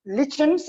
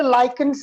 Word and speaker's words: lichens: read the question first what are legends and some people say lichens as well both of them are correct both pronunciations are correct what are lichens or